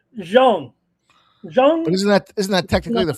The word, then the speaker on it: Zhang: Ramon, how do you say that last name? Jean. Well, yeah, right. Zhang.